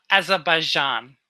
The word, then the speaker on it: Azerbaijan: I reckon Azerbaijan, is that how you say it? Yeah. Azerbaijan, yeah.